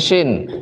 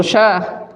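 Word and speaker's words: شين: terus fasyinu huruf syin nah ini syin kalau begini baru S begini Barus terus yang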